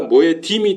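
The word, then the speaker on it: מועדים: 그래서 모에드니까 모에딤이 되는 거예요, 모에딤. 모아딤이라고 발음하기도 하고요.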